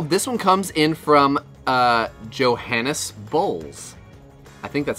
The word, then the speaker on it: Johannes: Johannes. Or it might be Johannes, honestly. The J is it's soft J, oh. Like yogging. I believe it's jogging or yogging.